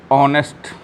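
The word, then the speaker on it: honest: पहले क्या लगेगा एंड लगेगा जो शब्द जैसे ऑनेस्ट ऑनेस्ट का उच्चारण करिएगा में आने ईस्ट कि यहां इंच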